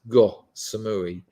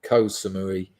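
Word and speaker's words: Ko Samui: go to uh go it's actually pronounced go Samui but the the English call it K Samui um in Thailand because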